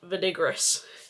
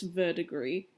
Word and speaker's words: verdigris: and he was like Skye it's French it's verdigree so I'm so sorry